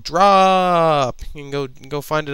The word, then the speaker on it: Drooop!!: It's called Drop. You can go find it on Xbox Live Indie, and yeah, go do that. It's meant to be pronounced drop. Drop. Drop. Just call it Drop.